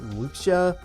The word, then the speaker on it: Wuxia: You guys see that that that free was it it's pronounced like Wuxia game that that Resolute